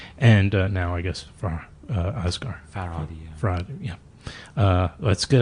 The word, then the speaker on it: Farhadi: Is that how you pronounce it? Panahi. Panahi? Oh, excuse me. Panahi. And now I guess Asghar. Farhadi.